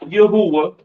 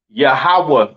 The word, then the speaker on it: Yahweh: Yahweh is not Yahuwah. All right. It's not what else some of you fake Israelites be saying. All right. It's not Yahuwah. Uh it's not Yahweh, right? It is pronounced Yahweh in the Hebrew.